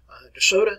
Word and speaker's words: de Soto: him hernando de soto de soto is the way we pronounce it here in alabama 1539 desoto led an